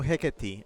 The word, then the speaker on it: Hecate: Chip says better way to explain it is rhymes with Chekati. Oh, Hecate.